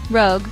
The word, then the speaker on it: rogue: People confuse it with rouge, the makeup. Rogue rhymes with vogue.